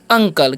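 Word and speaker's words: uncle: क्या लिखा हुआ है यूएनसीए तो इसे हम क्या पढ़ते हैं अंकल क्या पढ़ते हैं अंकल पढ़ते हैं ठीक है अंसल नहीं पढ़ना है आपको अब देखिए अब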